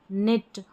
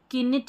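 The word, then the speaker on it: knit: के एन को हम न की ध्वनि देते हैं। मतलब न पढ़ते हैं क्योंकि के साइलेंट रहता है।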